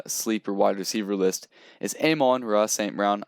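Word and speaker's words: Amon-Ra St. Brown: wide receiver list is amon raw saint brown i'm pretty sure that's how you say his name i've heard people say it a little bit different but aim on racing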